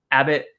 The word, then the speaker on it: Abbott: Um, is it is it a bot? Is that the correct pronunciation of his Abbott? Abbott.